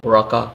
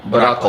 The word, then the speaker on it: Barako: It has a very strong coffee, which is the Baraka, right? Or how do you say that? Barako. It's called Barako. Coffee.